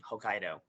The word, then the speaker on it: Hokkaido: Hokkaido um that is how you say it Hokkaido uh there's a on the island of Hokkaido